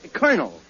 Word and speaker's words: colonel: no no you see that word is pronounced colonel colonel yes colonel uh where did he fight oh my uncle he fought with the original thirteen colonies i don't know because castella let's uh colony oh you said it was cannoli no cannoli i'll make up your mind look look it's very simple in in military parlance c-o-l is pronounced car as a kernel yeah don't you know